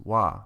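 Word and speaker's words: は: That's why the ha at the end is pronounced wa, because it's the topic particle.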